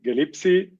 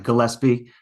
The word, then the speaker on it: Gillespie: Brian Gillespie, tell us about your project, yourself, but first unmute yourself. Absolutely. Hi, it's Brian Gillespie. Not a problem. That's the common mispronunciation.